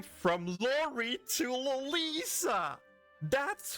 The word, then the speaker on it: Lolisa: No longer can I get comments of people saying, hey, you pronounce her wrong. She's called Lori, not Lolisa. No, she's now officially called Lolisa.